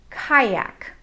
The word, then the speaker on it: kayak: example let's look at the word kayak the a and the y make the i sound kayak let's look at the